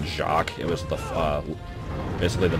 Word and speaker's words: Jacques: I don't know what the enemy is called, but the name of the level is Jacques. Jackways, if you want to just pronounce it phonetically.